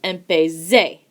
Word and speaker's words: empecé: as our example here, you hear that the Z has a S sound. So, without a spelling change, it is pronounced empecé.